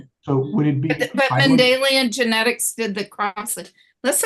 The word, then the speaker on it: Mendelian: Mendelian genetics. Mandalian genetics. Spell that.